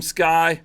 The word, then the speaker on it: SCCY: nobody knows how to say it cuz it's spelled SCC Y but man that's it it's just sky firearms yeah yeah we will